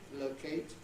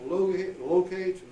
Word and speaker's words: locate: Words like, now if you use the British versions, frustrate, locate, migrate, and rotate. Lots of others too. The Americans will regularly pronounce those frustrate, locate, migrate, and rotate.